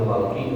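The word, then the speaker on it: خلق: kalimat iya iya dijamiil khalqi untuk semua makhluk Jadi kalau khalqi makhluk kalau halq niku gorokan beda sedikit apa titiknya aja sudah beda maknanya baca alhamdulillah Segala Pujian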